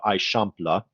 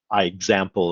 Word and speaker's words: Eixample: by ildefonso serda and it's known as the aishampla this is actually pronounced uh i shampla versus i example or anything like that so if you're trying